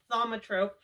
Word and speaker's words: thaumatrope: an optical illusion today we're gonna be making a thumatrope i'm hoping that i'm pronouncing that right but i'm pretty sure it's thaumatrope it comes from the greek which roughly translated means wonder turner and as i said